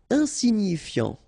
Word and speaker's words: insignifiant: Insignifiant. Okay, final T not pronounced, so you've got this I-A-N, ian, so F before, fiant. Insigni, okay, remember, G-N-I, ni, insignifiant.